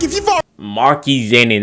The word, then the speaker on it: Maki Zenin: Maki Zenin, that's how you pronounce his name.